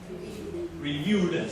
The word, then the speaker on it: reviewed: And then with ed, reviewed. How many? Two. So it's ed as a sound, right? So ed is a sound, so it's reviewed. Reviewed.